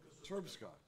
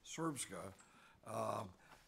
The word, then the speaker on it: Srpska: cantons, and the Republic of Serbia, let me pronounce it right? Srpska. Okay, I want to make sure I'm pronouncing that. Srpska.